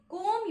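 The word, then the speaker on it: comb: इसके हा एंजॉय करिएगा कोम योर हेयर कोम कोम र हेर सो कोम इ अ एक्शन वर्ड चन कोम का स्पेलिंग सीओ ए बी होता है बट यहां पर बी की आवाज नहीं आती तो ी से कोम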